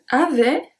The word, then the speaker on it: avait: Il n'y avait. The T à avait is silent.